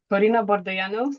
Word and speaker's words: Corina Bordeianu: So, Corina Bordeianu, the right Romanian pronunciation.